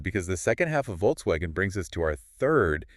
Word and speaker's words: Volkswagen: Volkswagen. Oh, the perfect example. Americans usually say Volkswagen, right? With that hard English V.